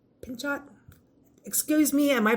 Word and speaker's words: Pinchot: contributions of George Vanderbilt Frederick Law Alstead gford pinch Pinchot excuse me and my pronunciation I don't know you can you can